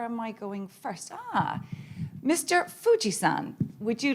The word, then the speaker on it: Fuji-san: Fuji-san, it means, it's pronounced the same way as Mount Fuji, the most famous mountain in Japan.